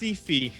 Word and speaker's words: Syfy: Syfy. That's an easy one. What character from Dragon Con? Only 3/4 a point though. You muttered. See, it's weird. It's so Sorry, weird. it's pronounced Syfy.